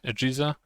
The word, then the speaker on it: AGESA: AGESA, which stands for AMD Generic Encapsulated Software Architecture, pronounces somewhat like PISA, AGESA.